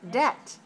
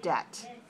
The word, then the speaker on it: debt: creates a sleep debt don't pronounce the b please make it silent like this debt put your lips together for sleep but not for the word debt sleep debt good very nice and